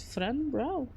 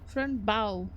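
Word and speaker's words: Fran Bow: Friend brow friend brow game. No. Oh, friend bow. Oops. I put an R too much.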